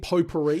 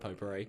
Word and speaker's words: potpourri: Do you mean potpourri? Yeah. Is that how you say it? Potpourri.